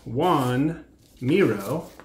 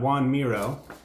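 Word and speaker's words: Joan Miró: man named juan but it's spelled different than you might expect juan miro oh yeah but it's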